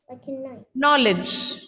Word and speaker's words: knowledge: My word is starting with a K. So I would assume the word or pronunciation also starts with a K, but it's starting with a N sound. It's knock. Not. Knowledge, right? So all the K, N gives you the N sound.